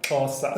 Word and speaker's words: Xhosa: So the language is called Xhosa. What This is a clip. Of course. What? Can you? So it's spelled XHOSA.